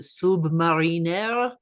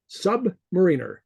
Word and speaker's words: submariner: Is it Submariner? Submariner. Submariner. As opposed to Submariner. Submariner. People see the word submariner and they pronounce it submariner, and that's not right.